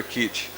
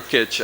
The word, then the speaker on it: kitsch: in manners of taste are kitsch or kitsch. I mean, we've heard different pronunciations, but it's a loan word, so that's not uncommon.